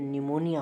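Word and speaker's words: pneumonia: प हो ध्यान रखना ए से पहले अगर प हो गया तो वहा प को नहीं पढ़ निमोनिया हो गया इसका स्पेलिंग देखि हमने प प जो प्रोस नहीं करने है एन से बोल रहे है क्योंकि य प साइलेंट है ए से पहले प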